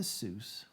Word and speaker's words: Seuss: read it guys will switched the to the anglicized pronunciation because it evoked a figure advantageous for an author of children's books to be associated associated with mother Goose so dr. Seuss Mother Goose so he adopted the Seuss because it sounded like Mother Goose and he added the